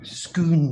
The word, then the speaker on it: Scone: I think it's pronounced scone. Scoon, it's Scottish, I said.